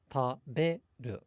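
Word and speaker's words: 食べる: But in Japanese, the be in taberu, it's not significantly louder or longer than the other two syllables. It only, generally speaking, has a higher pitch.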